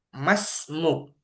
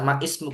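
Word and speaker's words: ما اسمك: Mas Masmuk. Nah, ini nanti cara bacanya Masmuk gitu saja ya. Mas, Masmuk. nah, Masmuk. iya, Masmuk, Masmuk. Nggak usah man, nggak usah ma ismuk, nggak usah. Masmuk.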